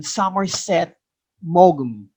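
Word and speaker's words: Somerset Maugham: understanding of human nature we pronounce his name summerset mogum of human bondage is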